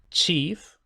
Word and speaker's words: chief: Y como había anunciado ya, chief es una palabra muy antigua, que por tanto conserva la pronunciación antigua de ch, pero el doblete chef, el jefe de la cocina, se introdujo en inglés muy tarde, hace un par de siglos.